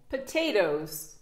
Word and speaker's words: potatoes: Vous savez, hein, le T, le pauvre, quand il est en deux voyelles, à chaque fois, il lui arrive la même chose. Il se retrouve prononcé comme un de.